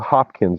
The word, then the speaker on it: Hopkins: name is Hopkins it's spelled Hopkins but it is pronounced Hopkins because the O is long I am hope I